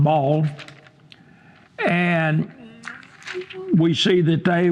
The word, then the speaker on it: Baal: some people pronounce that baale but ball b a a l most of the time I see um in that region pronounced ball and we see that